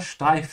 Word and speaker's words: steif: Remember to pronounce the st like sh. Yeah, because the s is before a t.